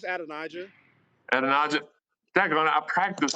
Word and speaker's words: Adonijah: Yeah, it's Adonijah.